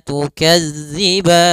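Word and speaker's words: تُكَذِّبَانِ: Maka tukadziban empat harakat saja. Baru dimatikan nunnya dengan sempurna. Fabiayyi alai rabbikuma tukadziban.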